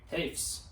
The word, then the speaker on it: Hoefs: Hoefs.